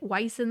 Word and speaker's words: Wyson: Make your way to Falador Park and visit Wyson the gardener.